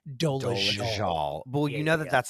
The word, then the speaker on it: Dolezal: I keep forgetting it's pronounced Dolezal.